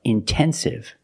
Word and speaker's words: intensive: Or words like intensive, intoxicated. We have the stress after the NT. We pronounce the T like a pure T.